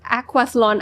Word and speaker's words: aquathlon: Kira, you raced your first aquathlon at 3. Is that how you pronounce it?